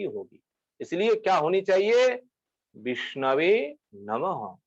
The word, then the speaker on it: विष्णवे नमः: विष्णवे नमः। ये शुद्ध है। पंडित जन इस प्रकार उच्चारण करते हैं, विष्णवे नमः। जो लोग जानते नहीं है, भगवान के पास जाकर के विष्णाय नमः गलत उच्चारण करते हैं।